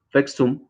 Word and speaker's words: FEXUM: Esa es la sigla, FEXUM, así lo pronunciamos, pero quiero agregar, qué